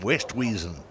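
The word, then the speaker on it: Oosthuizen: try and teach them how to how to pronounce the name they will call him West weasen I don't think there' have been many golf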